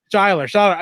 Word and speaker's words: Seyler: Is it Seyler? I want to make sure I pronounce Seyler. Seyler.